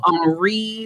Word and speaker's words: Henri: Oh, It's like Henri. There's so many wonderful French pronunciations.